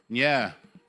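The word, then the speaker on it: Nyeah: Now, I'm going to ask that you say ny. And ny is is spelled like n y e a h. So it's like yeah.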